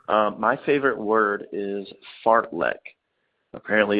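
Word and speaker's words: fartlek: oh yeah fart let f-a-r-t-l-e-k pronounced fart lick Swedish origin means Speed play Speed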